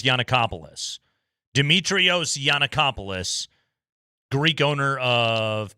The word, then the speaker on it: Giannakopoulos: I think it's Giannakopoulos.